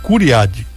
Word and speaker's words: Cury-Rad: Eu quero começar a conversa com o secretário estadual de Educação, o Curadi. Deixa eu ver se eu pronuncio certo. Curiradi. Isso.